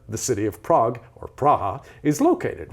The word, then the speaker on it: Praha: The word Prague itself is the English version of Praha. That's how they say it in the Czech language, Praha, which means ford.